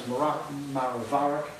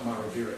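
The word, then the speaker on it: Maraviroc: One called Silzentry, also known as Maravaric. It's a bizarre pronunciation, it's not Maraviric, that is probably incorrect.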